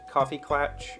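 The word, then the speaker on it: kaffeeklatsch: be german right but it's pronounced coffee clutch yeah i mean it's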